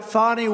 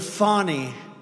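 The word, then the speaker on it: Fani: destroyed because of fonnie f a n i fny you have to pronounce it fonny it's called Fanny you have to pronounce Bonnie I don't know how she get she should add a little u in there someplace if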